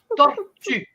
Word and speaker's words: tortue: You have to learn to pronounce turtle in French. Tima? Turtle. You know what turtle? Practice this. Listen to me. Tortue. Tortue. Oh my God.